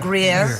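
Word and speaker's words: Gruyère: So this is the French Gruyere. Is that how you pronounce it? Gruyere.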